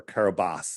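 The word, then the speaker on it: Kiribati: was registered to the nation of kabati or kobas as it's pronounced but it's spelled kabati and uh like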